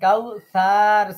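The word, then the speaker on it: كوثر: করবেন বলেন আচ্ছা কাউ সার সাতে কিন্তু টান নাই সার সর জবর সা মুখটা গোল করে দেবেন তাহলে রটা পর হয়ে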